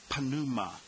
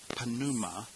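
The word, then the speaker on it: πνεῦμα: Alone number 14 panuma now there are no silent letters in Greek so you need to pronounce both the p and the N whereas in English we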